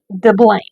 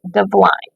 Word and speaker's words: Diblaim: So in English, we would pronounce his name Diblaim, but in Hebrew, it would be pronounced closer to Divline.